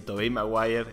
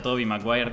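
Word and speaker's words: Tobey Maguire: yo quería decir que las pelis de tobei mre están muy bien r está bien ya entendí chicos pusieron todos en los comentarios se pronuncia Toby mire Perdón ya me confundí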